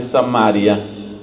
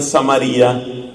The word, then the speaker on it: Samaria: a una mujer pecadora de samaria otros pronuncian samaría esa se llama la